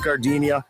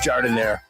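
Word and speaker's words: giardiniera: And guys, when you're at the counter, don't call it Gardinia. It's pronounced jardinire.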